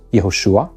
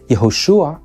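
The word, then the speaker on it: יהושע: an ancient Hebrew speaker these were really just two different versions of the same name yahushua was the more original and longer form of the name and Yeshua was a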